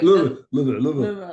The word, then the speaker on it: Louisville: Anyone from Louisville will tell you, you have to say it like you have marbles in your mouth. Like, Louisville.